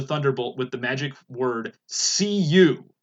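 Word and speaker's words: Cei-U: with the magic word see you which is pronounced say you according to the interwebs and so after that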